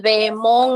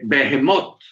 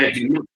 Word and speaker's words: Behemoth: Usted dijo que el Leviatán y el Behemón es el mismo. ¿Es correcto? No, el Behemoth. El Behemoth, sí, el Behemoth. Behemoth, se pronuncia así.